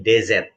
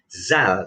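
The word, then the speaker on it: ذال: yang selanjutnya itu Zal Zal ini dz jadi bukan Zal bukan zat tetapi zat-zat ada lidahnya itu agak dijepit Ada ular salah sama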